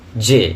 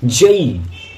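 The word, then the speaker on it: J: জে, জে, কিন্তু ওটা জে নয়, যেটা যে নয়। উচ্চারণটা কি? সঠিক উচ্চারণটা কি? জেই, জেই, জেই, জেই।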